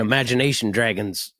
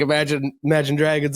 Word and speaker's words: Imagine Dragons: But they played an Imagination Dragons. I'm saying it wrong. I've been saying it. I know it's Imagine Dragons.